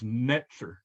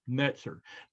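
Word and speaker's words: נצר: pots it's it's the the t z or the ts sound at the end of pots is is how the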